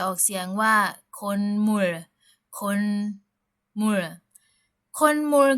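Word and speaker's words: 콧물: คำ นี้ นะ คะ เรา จะ ไม่ ออก เสียง โคด มู นะ ฮะ แต่ ว่า เรา จะ ออก เสียง ว่า คนม คนม ก็ คือ เมื่อ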